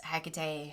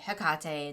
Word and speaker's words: Hecate: over the years is Hecate Hkate. Depending on your tradition and how you approach her depends on which pronunciation you tend to use.